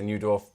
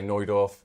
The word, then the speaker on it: Neudorf: I say Neudorf, people say Neudorf. It's however you want it, I think, unless you talk to the Finn family themselves.